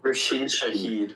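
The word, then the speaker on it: Rashid Shaheed: Wait, Rashid, how do you pronounce his name? Rash Rashid. Rasheed Shahed.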